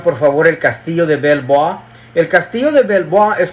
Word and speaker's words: Belvoir: Si ven ustedes ahí en página 7 donde dice Belvoir, realmente se pronuncia Belvoir. Es un castillo. Pongan por favor el castillo de Belvoir.